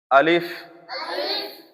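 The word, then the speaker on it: ألف: আলিফে বাংলা বানানে আসে সরে লয় রশি প। কিন্তু আলিফ সহি উচ্চারণে সরে লয় রশি ফ হবে।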